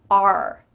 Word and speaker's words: our: You might hear this in kind of slower, clearer speech, but in fast conversation, it just sounds like the letter R. R.